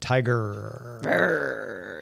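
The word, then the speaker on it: TIGRR: integrated genetic restoration research because there's two r's i i prefer to pronounce it tiger tiger lab uh this is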